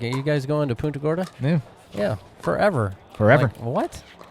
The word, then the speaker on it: Punta Gorda: court at that moment beautiful sunset here in punta corto florida now it's nice i'm not squinting anymore